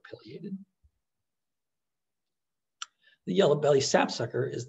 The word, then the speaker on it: pileated: that affiliated woodpecker made you may have heard others call them pileated woodpeckers either pronunciation is correct i just prefer pileated the yellow belly sapsucker